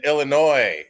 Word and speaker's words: Illinois: As I've told you guys many times, the S is silent in Illinois.